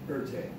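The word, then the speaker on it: Erté: Anyways, he became known by his initials in France, but with the French pronunciation, Erte.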